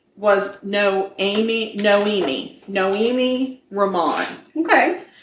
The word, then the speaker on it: Noemi: So her name was Noemi Ramon. Okay. I want to call her Naomi constantly because it's almost spelled like that, but it's not.